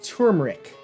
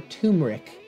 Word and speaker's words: turmeric: All right, Spice number three is turmeric or turmeric. There is an R in there. My wife calls me crazy when I try to pronounce the R, but let's just call it turmeric.